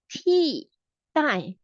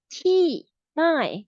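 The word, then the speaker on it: 替代: This is called T, die. T, die. We pronounce like the T-shirt T plus die. T, die.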